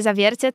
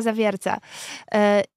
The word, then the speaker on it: Zawiercie: mówi że Nadjeżdża pociąg ze stacji zawierce nie Zawiercie tylko Zawiercia I oczywiście to są rzeczy których ja u